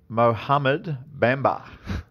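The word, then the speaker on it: Mohamed Bamba: can you pronounce the potential number 1 pick for me? Mohammed Bamba.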